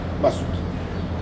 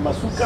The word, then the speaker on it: Masuka: Madame Fifi Masuki. Est-ce que je prononce bien son nom déjà? C'est Masuka? C'est Fifi Masuka.